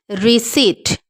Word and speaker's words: receipt: pronunciation first one is receipt P will be silent it will not be pronounced receipt and the next